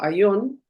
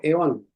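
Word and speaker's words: αἰών: Entonces, él dice, por ejemplo, que la palabra él lo pronuncia como aón, algunos lo pronuncian como eon.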